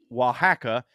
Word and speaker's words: Oaxaca: She also has a problem with the Mexican state of Oaxaca, pronounced Oaxaca, for similar reasons because, quote, they are basically Guatemalans.